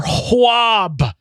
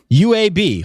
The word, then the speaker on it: UAB: And finally, we had a conference championship for Hwab. I'm told it's pronounced Hwab. Hwab? UAB.